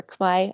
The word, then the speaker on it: Khmer: was beautiful i learned a little bit of khmer or quai as they pronounce it which is the cambodian language um